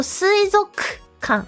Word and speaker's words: 水族館: Yeah, but 水族館, this is actually no u sound. So 水族館, 水族館.